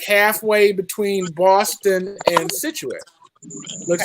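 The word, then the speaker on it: Scituate: So, Paul, what took you and your family to Situate? Is that how you pronounce it?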